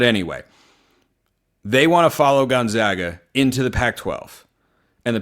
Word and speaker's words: Gonzaga: Mary's get discussed is the Gales would like to follow Gonzaga. That's how you pronounce Gonzaga, by the way. If I hear one of you say Gonzaga in person, I don't know what I'm going